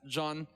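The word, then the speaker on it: Jeanne: There's many different pronunciations, but at least in this game they pronounce it John, much to the dismay of my good friend Jeannie, whose name is spelled the same.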